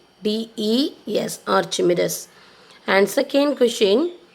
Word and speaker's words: Archimedes: So I'll give you the pronunciation Archimedes. Archimedes.